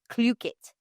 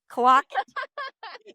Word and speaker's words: clock it: not it's but if it's spelled Clouck, that to me is like cluke it. And we're not saying cluke it, we're saying clock it.